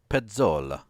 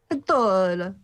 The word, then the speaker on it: Pezzola: No, pronounce it properly in the Italian. Pezzola. Pezzola.